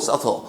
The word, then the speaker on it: subtle: 발음 조심하시고 subtle.